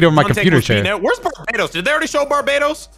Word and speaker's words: Barbados: yo, just let me know, how do you pronounce Barbados?